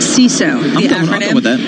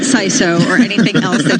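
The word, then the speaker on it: CISO: record straight so chief information security officer is pronounced C so it's not Sai so say we have heard it from here Jamil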